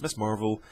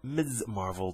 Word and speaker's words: Ms. Marvel: and the three figures Miss Marvel Captain America and active man or Miz Marvel depending on how you want to pronounce that nothing else really on